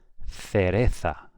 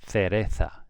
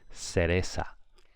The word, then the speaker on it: cereza: The next one, cereza, with a TH sound, cereza. If you're from the south of Spain, from the Canary Islands, from Mexico, from Peru, it's going to be cereza.